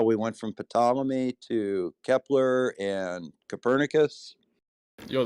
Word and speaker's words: Ptolemy: how we went from ptolemy to kepler and copernicus yo the p is silent it's totally he doesn't